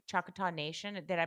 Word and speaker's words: Choctaw: You're from the you're and I'm gonna be bad at pronouncing, Choctaw Nation. Did I pronounce it right? Yeah, Choctaw Choctaw Nation of Oklahoma.